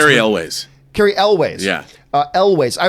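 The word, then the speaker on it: Elwes: Carl, how do you pronounce Ewell's last? Is it Ewell's? Is it? I always hear pronounced. Carrie Elways.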